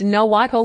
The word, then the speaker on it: Nahuatl: The Maya language and Aztec Nahuatl, pronounced Nahuatl language, are among the most prominent.